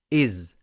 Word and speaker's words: his: أيوة، الكلمتين دول ممكن يكون ليهم نفس النطق، لأن كلمة his ممكن أقولها is لو أنا بتكلم بسرعة.